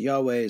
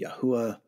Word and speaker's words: Yahweh: Some people pronounce it Yahweh, some pronounce it Yahuwah.